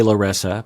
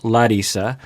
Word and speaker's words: Larissa: People say Larissa, but I like to pronounce it as she does, which is Larissa.